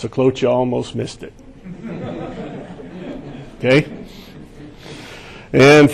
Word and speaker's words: Sjeklocha: And it's pronounced Smith. No, that's not right. Sjeklocha. 3 simple syllables. The J is silent. My wife likes to say it's just there to scare you.